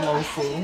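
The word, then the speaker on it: 老虎: In Canto, it is called a lofu.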